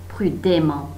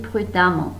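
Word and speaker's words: prudemment: که دقت کنید این توی تلفظ ا ما خونده میشه. مثلا پرودان پرودامان، نمیگید پرودمان، میگید پرودامان. خب، و اگر که با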